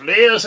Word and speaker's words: Liath: I've Leahs and all of those, the various... It's actually, you're not supposed to pronounce the TH. You know, Leah.